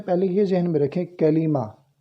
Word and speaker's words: کلمہ: یہ ذہن میں رکھیں، کلمہ یہ درست تلفظ ہے۔ بعض کلمہ پڑھتے ہیں تو درست تلفظ اس کا کلمہ ہے۔ کلمہ کی تعریف، کلمہ کسے کہتے ہیں؟